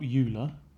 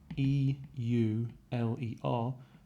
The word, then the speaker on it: Euler: number now it's spelt euler e u l e r but it's pronounced euler like oil-spill euler right german mathematician why